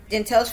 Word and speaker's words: Jantely: Her disappearance, Janteyl's first name is pronounced Janteyl, but I'm just gonna call her Jay because that's one of her nicknames.